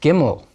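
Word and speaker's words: gimel: beta gamma hebrew alphabet gimmel makes the sound of our g gimmel does but always a hard g ga never a soft g ja that's just not a hebrew sound next back in english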